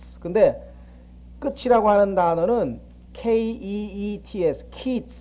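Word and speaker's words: קֵץ: 근데 끝이라고 하는 단어는 KEETS, 키츠. 그러니까 장음이에요. 조금 길게 발음하면 돼요. 여름 과일 키츠. 그다음에 끝이란 말은 키츠.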